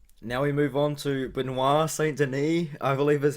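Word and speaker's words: Benoît Saint-Denis: i've been calling him benoit saint denise um i might still call him benoit saint denise accidentally but i'm from new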